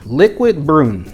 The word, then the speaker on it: Liquid Brun: French avenue cuz that's what's on the box liquid broom I've been told that's how it is pronounced and man this presentation this presentation for